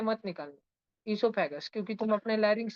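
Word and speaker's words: oesophagus: में हम बोलते हैं इससोफेगस। ओ साइलेंट है। ओ नहीं बोलने का। ओ है स्पेलिंग में पर ओ को उच्चार नहीं करने का। ठीक है? ओ का नाम अपने लेरिंग्स से मत निकालना। इससोफेगस क्योंकि तुम अपने लेरिंग्स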